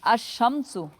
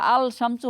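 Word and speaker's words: الشَّمْسُ: আশ-শামসু, এটা কিন্তু আল শামসু হয় নাই, আশ-শামসু হয়েছে।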